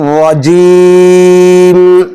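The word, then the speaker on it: الرَّجِيم: মিনাশ শাইতানির রাজিম রাজিম এখানে জিমকে সুন্দরভাবে উচ্চারণ করতে হবে বলা যাবে না কি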